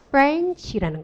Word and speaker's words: French: 그래서 후렌치 파이가 아니고 뭐라고요? French라는 거죠.